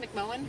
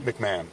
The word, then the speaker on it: McMahon: McMoan. McMahon. McMahon. McMahon. Even though it's spelled M.